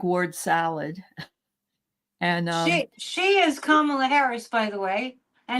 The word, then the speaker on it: Kamala: And for anybody that has a question in their mind of how to pronounce Kamala's name, remember this: calm. Yep. Yep. Kamala. Yep. Will be calm. Well, it's really Pamela with a K is the other thing.